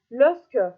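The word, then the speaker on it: Lascaux: sağ tarafta gördüğünüz bir Fransa'daki losco mağaraları canlı şeklinde okunuyor Umarım yanlış söylemiyordu doldur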